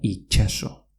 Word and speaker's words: itxaso: En euskera mar se dice itxaso, pero se pronuncia itxaso.